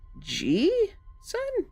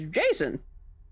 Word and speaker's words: JSON: Cuz this idiot pronounces it G. Son. Jason. It's Jason.